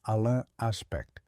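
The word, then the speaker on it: Alain Aspect: And in the 1980s, a French team led by Alan Aspect, pronounced Alan Aspe, built the ultra fast optical switches needed to test Bell's theorem in the real world.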